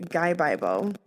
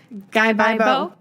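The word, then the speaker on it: 가위바위보: Scissors, which is like, if you pronounce the words fast, you say Gaibaibo.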